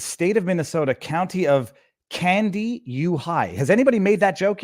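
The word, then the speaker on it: Kandiyohi: of Minnesota, County of Candy U High. Has anybody made that joke yet? Like the county is literally called Candy U High, K-A-N-D-I. It's not spelled the same way. Y-O-H-I.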